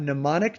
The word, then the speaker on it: mnemonic: A mnemonic device with a silent M on the front, that's how you spell